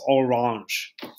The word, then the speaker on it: Orange: orange it is uh one of the few words that's not pronounced like it's spelled it's spelled just like orange and it comes out as orange or last thing i